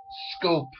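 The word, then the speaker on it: Schoop: playing the Red Sox the proper way to pronounce this guy's name is Jonathan scope how you get scope out of a double O with a CH in front of it is difficult for me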